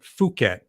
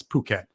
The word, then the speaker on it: Phuket: lot of people say Phuket instead of Phuket. That would kind of get me like, oh, come on. Now, if you're here, you got to realize it's Phuket. Like, it's not Phuket.